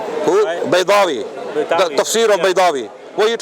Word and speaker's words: Baydawi: Imam Badawi. Who? Baydawi.